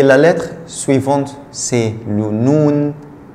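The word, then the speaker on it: نون: Et la lettre suivante, c'est le noun. Noun, c'est le N. Noun, ça s'écrit comme ça quand il est séparé et quand il est attaché, il s'écrit comme ça. Noun, noun, N.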